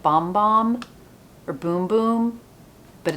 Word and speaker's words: Bum Bum: right on the inside pronounce boom boom because it will make your heart go boom boom there you go so it's boom boom cream so everyone out there who's calling it bum bum cuz I know the